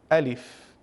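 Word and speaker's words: ألف: We say Alif by stretching our mouth out. alif. طيب, the letter alif, my brothers and sisters, it is an easy letter to pronounce. Why so? Because the beginning of the letter, which is the a sound, we find it in the first letter of the English language, which is the letter A.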